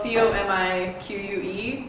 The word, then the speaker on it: Comique: So the name is spelled C-O-M-I-Q-U-E Con, like Comique Con.